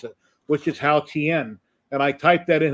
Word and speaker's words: Haotian: sound bite on Facebook that said how to pronounce it, which is Haotian.